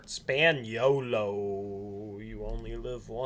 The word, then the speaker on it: Spagnolo: partner for the record mateo's last name is pronounced spaniello spaniello you only live all once so taylor